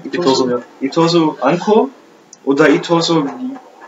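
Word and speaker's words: Itosu: Und da wollte einer, also Itoso, richtig ausgesprochen? Itoso, ja.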